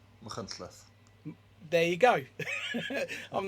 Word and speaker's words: Machynlleth: Machynlleth.